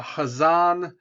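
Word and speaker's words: Ghazan: next person is a hazan the g is silent so during his reign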